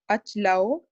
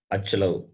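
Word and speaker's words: अचलौ: Achalah, achlau, achlaha. See, you are cutting the vowel. Achalau. There is no achalau. Achala. Achalau. Achalaha, achalau, achlaha. The impact of Hindi is there too much in the pronunciation.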